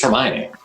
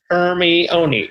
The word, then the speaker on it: Hermione: been split jay zeus get it right it's hermione hermione hermie oni hermione i found that name very